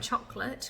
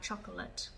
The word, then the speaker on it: chocolate: example the other day I sent chocolate which is two syllables but when you see it written it does look like it should be three syllables it does look like chocolate but it's really important